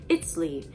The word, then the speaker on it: Itzli: They would call it Itzli, which I'm sure I butchered that.